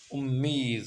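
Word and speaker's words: اُمّید: ہے۔ دوسرا نکتہ گاہی کلمہ امید در شعر و نثر ادبی به صورت مشدد تلفظ می شود، امید خواند می شود۔ اب دیکھیں امید ایک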